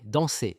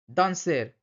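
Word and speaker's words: danser: এখানে কিন্তু শেষের আর গুলো কিন্তু উচ্চারণ করা হবে না। মজে, পালে, দন্সে সন্তে। মৌসে, পারলে, দ্বন্সে, সন্তে নট, দন্সের, শান্তের।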